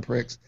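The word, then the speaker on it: Prix: show oh World drone Pricks H it's awesome wait what did you say World drone Pricks oh x x like chicks with tricks X World Dr PR it's a PG podcast is silent apparently whatever it is now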